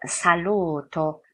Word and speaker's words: saluto: 롬바일, 수오, 살루토, 살루토. 여기 발음 조심하셔야 되는데 어떤 분들이 여쭤봐요. 선생님 여기 뭔가 모음사인데 그러면 수오잘루토 아닌가요? 아, 여기는 수오잘루토가 무언가 모음 사이하고 해당되지 않습니다. 독립된 단어이기 때문에.